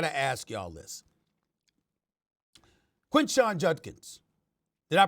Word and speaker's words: Judkins: Quinshon Judkins. Did I pronounce his name right, Judkins?